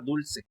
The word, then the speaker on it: dulce: ¿Es dulce o es dulce? Ándale, es la penúltima.